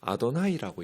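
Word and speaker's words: אדני: 못 붙였어요 그리고 언제나 그 단어를 어떻게 읽고 가르쳤냐면 랍비들은 아도나이라고 읽었어요 아도나이라는 단어가 따로 있어요 주라는 단어가 주님이라는 단어가 근데 여호와라고 써 놓고 그 자음을 써놓고 읽기는 아도나 이렇게 주님이라고 읽었어요 그래서 여호와여 돌아오소서를 슈바 아도나이라고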